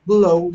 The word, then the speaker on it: blow: Now, for example, bow, it sounds like the ow in cow, while blow sounds like the o in crow.